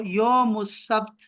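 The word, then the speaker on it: يوم السبت: अब लिखो, अब आखिरी लिखो, यौमुस सब्त, यौमुस सब्त, यौमुस सब्त, मुस।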